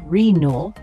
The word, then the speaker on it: renal: The word renal, spelled R-E-N-A-L, it's an adjective pronounced renal.